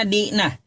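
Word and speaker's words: δεῖνα: Bahasa Yunaninya Dena. Dibacanya Dina.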